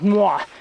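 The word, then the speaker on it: noir: And this one is called Cafe Mua. It's um they spell it N O I R. and someone told me it was French and basically that's what they told me how to pronounce it.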